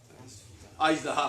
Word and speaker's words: اژدہا: یہ ایک اردو کی قرات ہے. جیسے عربی میں قرات ہوتی ہے نا، ہر زبان میں قرات ہے، اس کے تلفظ کو پڑھنے کا ایک قاعدہ ہوتا ہے باقاعدہ. اس کو پڑھتے ہیں آج دہا فارسی سے لیا گیا ہے، ادھر سے.